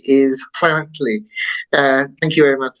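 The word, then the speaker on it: Llanelli: past so uh the Sri Lankans probably would pronounce this it as Lanell l l l a n e l l i whereas the English pronounce it as flanell and the proper Welsh pronunciation which you did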